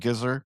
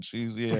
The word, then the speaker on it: GZA: RZA and Gizzer. It's RZA and GZA.